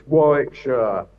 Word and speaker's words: Warwickshire: I would say Warwickshshire, but you're is Warwickshire. What is it? Where are you from? Yeah, it's it's Warickshshire.